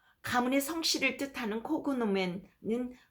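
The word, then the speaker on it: cognomen: 때는 앞으로 카이사르로 칭하겠습니다 라틴어에서 gn이 붙어 있을 때 그 발음은 혀를 꾹 눌러 다림질하듯이 뉴 식으로 발음하는데요 가문의 성씨를 뜻하는 코그노맨은 콘요맨으로 발음해야 합니다 수념에는 주로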